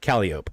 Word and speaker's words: Calliope: Down here in New Orleans, we call it Calliope. That's how we pronounce it down here.